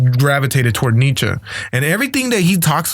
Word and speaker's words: Nietzsche: You got to say it right. It's Nietzsche, apparently. Yeah, Nietzsche.